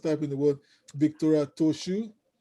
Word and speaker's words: Trochoux: How do you spell Victoria Trochoux? Trochoux, Trochoux, Trochoux. Ah, that's some French. That's some French. Some exclusive and exquisite pronunciation for you there.